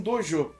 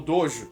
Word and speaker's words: dojo: Sozinho no mundo, o garoto encontra um novo propósito ao encontrar Keizo, o dono de um dojo, ou dojo. De novo, pronúncias, cada um prefere a sua.